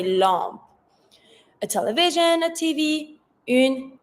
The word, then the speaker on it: lampe: A lamp, une lampe. Careful with the pronunciation. It's almost the same spelling, but when it comes to the pronunciation, we don't say lamp, we say lampe.